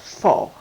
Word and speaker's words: faux: is the word i think is faux and fo is spelled and we're gonna get into a little bit of a french lesson f-a-u-x and it's pronounced fall what means false or fake okay and the